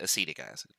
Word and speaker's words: acetic acid: Or, how we would pronounce it, acetic acid.